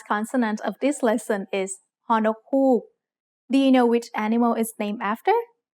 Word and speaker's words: ฮอนกฮูก: This letter is only used as an initial sound in a syllable, never as a final sound. Maybe you can remember ฮอนกฮูก because it looks a little like the shape of an owl's eye.